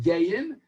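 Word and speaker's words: גיים: And it's written Gimel Aleph Yud Mem, according to Rashi's Gersa, and it means, it's really written Gimel Yud Yud Mem, but it's pronounced Gayim, and Gayim comes from the word Ga'ah, and Ga'ah means exalted, and it's Shnei Gayim Bevitnech.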